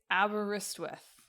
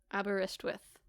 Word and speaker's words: Aberystwyth: So I think it's Aberystwyth. Aberystwyth. Yes, I saw the video game, like, it's not quite spelled like the real town.